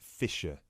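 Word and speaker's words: Fischer: me your full name sure it's Mr Fisher okay sorry how do you spell your surname it's spelled f-i-s-c-h-e-r great thank you I see that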